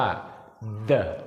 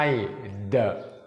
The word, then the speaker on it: the: ก็ คือ คำ ว่า the t h e ออก เสียง ว่า เดะ นะ ครับ ทุก คน ไม่ ใช่ เดอะ ไม่ ใช่ เสียง ด เด็ก แบบ ภาษา ไทย นะ ลอง ดู ลักษณะ